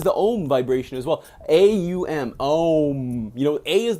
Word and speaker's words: Aum: The Aum vibration, the Om, you guys hear this all the time, the Om, the Amen, it's spelled A-U-M, it's not O-M, you know, it's kind of pronounced, it's Aum, the Om vibration.